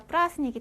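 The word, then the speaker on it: праздник: 자,이 대는 또 소리가 안 난대요. 그래서 가까그다라스닉 하면은요. 제가 예를 들 들어 볼게요. 음. 한국의 추석이 설 에더프라스니크 하면 명절도 축제도 둘 다 플라스닉이 돼요.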